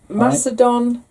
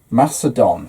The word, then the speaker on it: Macedon: And it's Ruth, who is in Macedon. Macedon. I'm pronouncing that right? Like Macedonia.